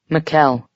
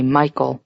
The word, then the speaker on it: Mikuel: Mikuel, he says. People always mispronounce it and say Michael, though.